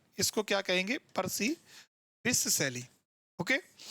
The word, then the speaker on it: Percy Bysshe Shelley: अब इसका जो प्रोनाउंसिएशन है वो आप ध्यान रखना है, इसको क्या कहेंगे? पर्सी बिस सैली.